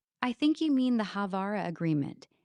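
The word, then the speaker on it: Haavara: I think you mean the Havara agreement. It sounds like Havana, but it's spelled H A V A R A.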